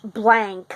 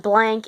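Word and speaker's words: Blanc: in Oz with Dorothea and this wicked witch blank which is spelled b-l-a-n-c um is the destroyer of all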